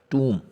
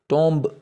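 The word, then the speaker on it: tomb: इसी तरह नौवां है टूम। टूम मकबरा, हम इसको टोम्ब बोलते हैं जो कि गलत है, टूम।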